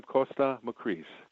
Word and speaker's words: Kosta Makreas: again possibly no problem it's like it's i'm costa macris okay makris gotcha and we're we're you were